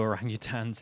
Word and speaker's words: orangutan: But I love the way David Attenborough says orangutan. It's like orang-utan.